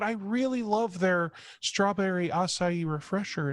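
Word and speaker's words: açaí: sugary fruity that I get the strawberry the pronunciation was fake thank you yeah yeah my-my wife calls it a chi I'm like no it's ossify Yi she's like no it's a chi so it's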